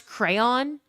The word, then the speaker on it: crayon: Um, two syllables and the second syllable rhymes with dawn.